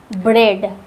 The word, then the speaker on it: ब्रेड: For example thread ब्रेड। Thread में हम लोग केवल ई का उच्चारण कर रहे हैं। थ्रेड। ब्रेड में भी हम लोग केवल ई का उच्चारण कर रहे हैं। ब्रेड।